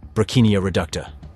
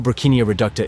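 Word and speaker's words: Brocchinia reducta: Brachinia reducta. Even though Brachinia reducta is pronounced like broccoli, it's nothing like it.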